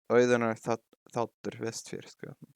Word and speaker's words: Auðunar þáttur vestfirska: Anyways, to the story of Auðunar Þáttur Vestfirska, which is the modern Icelandic way of saying it. The Old Norse pronunciation is much different.